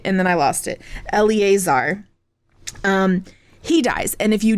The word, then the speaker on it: Eleazar: And so in the pre-show, I actually looked it up, the how to pronounce on YouTube, and I had it, and then I lost it. Eleazar.